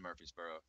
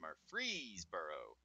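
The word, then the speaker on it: Murfreesboro: I don't live in Murphy's Boro which by the way I figured out that's pronounced Murphreesboro thanks to GPS Jesus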